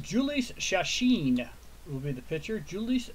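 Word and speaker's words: Jhoulys Chacín: And that is pronounced Julius Chacin will be the pitcher.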